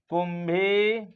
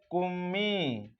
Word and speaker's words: कुम्मी: तमिलनाडु, तमिलनाडु में पहला हो जाएगा कुंभी, या इसी को उच्चारण में कहते हैं कुम्मी, तो कुमी या फिर कुंभी।